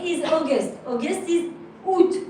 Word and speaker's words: août: August is août. You remember there is an A, but we don't pronounce it.